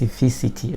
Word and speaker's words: specificity: called SPAC spaces uh it's really hard to pronounce this word but it's called space specificity right so specificity of